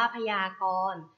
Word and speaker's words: พยากรณ์: คำ ต่อ ไป ค่ะ คำ ว่า พยากรณ์ พยากรณ์ อ่าน ว่า พยากรณ์ พยากรณ์ ประกอบ ไป ด้วย พอ ภาย ยอ ยักษ์ สระ อา ก็ ไก่ รอ เรือ เณร การ ค่ะ พยากรณ์ 1 ต่อ คำ